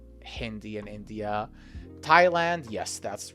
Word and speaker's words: Thailand: not Hindi and India Thailand yes that's right that's right Thailand it looks like th but here we ignore the rules. So it's not Thailand, it's Thailand with a strong clear th sound.